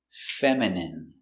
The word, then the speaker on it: feminine: feminine like a girl pronunciation feminine f e m fem I Fe M femine femine femine feminine feminine feminine stress on the first syllable feminine feminine your dog